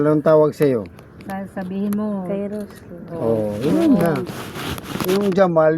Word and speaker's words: Kairos: Anong gusto mong, nickname? Ano? lang. Ano? Hindi po yung pag-pronounce. Ano yun? Yung pangalan ko kasi yung spelling nun. K-A-I. Kairos. Kairos.